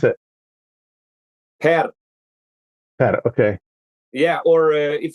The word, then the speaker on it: Per: How do you pronounce it? Per.